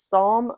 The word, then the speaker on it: Psalm: a I think it's Psalm of Storms and silence I think the p is silent so I'll read that